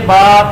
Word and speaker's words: ب: پور لکھا ہوا ہے، حروف مفردات کو تجوید و قرات کے مطابق عربی لہجہ میں ادا کریں، اردو تلفظ سے پرہیز کریں، یعنی بے، تے، سے، ہے، کھے، توئے، زوئے وغیرہ ہرگز نہ پڑھیں، بلکہ با، تا، سا، ہا، خا، طا، ظا پڑھیں۔ اب اس میں وہ